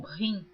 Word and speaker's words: him: gosto de esclarecer que essa palavra in está escrita h i m alguns pronunciam rim mas eu estou lendo como está escrito em português porque eu